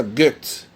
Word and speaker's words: Goethe: Se escreve Goethe, mas a gente pronuncia Goethe.